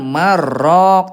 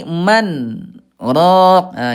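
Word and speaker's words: مَنْ رَاقٍ: Nah, Ibuna hati-hati ini bukan bukan idgam bilagunah ya, bukan marrok tapi man ro ah gitu ya.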